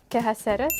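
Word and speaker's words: quehaceres: ¿Qué haceres?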